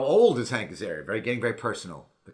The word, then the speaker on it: Azaria: i've just gone insane hi i'm hank azaria and apparently i'm doing the wired auto complete interview so here we go first thing how to pronounce hank's area it's hank's area it's self-explanatory although some people in my family